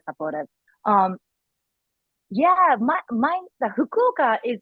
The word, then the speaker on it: Fukuoka: in Japan that is, hmm but could you pronounce it again for me because I'm stumbling on it. Fukuoka.